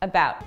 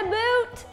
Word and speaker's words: about: You just said a boot. Contrary to popular belief, we do not say a boot.